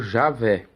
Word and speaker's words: Javé: E que quer dizer, pode se pronunciar Jeová ou Javé, mas como eles não pronunciam, até é difícil dizer como que é pronunciado isso.